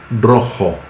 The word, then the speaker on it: rojo: Por exemplo, a palavra roxo em português e a palavra rojo, bem diferente, né? Roxo, rojo. Mas rojo escreve R-O-J, que é o J-O. Um brasileiro que vê a palavra R-O-J-O vai ler como roxo, bem parecido com o roxo.